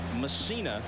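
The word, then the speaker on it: Mussina: in the game and messina is the way he prefers to have it pronounced all the controversy last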